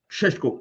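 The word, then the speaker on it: Šeško: pronounce the name Benjamin Shesh- Sheshko. Sheshko. Benjamin Sheshko. Sheshko, yes.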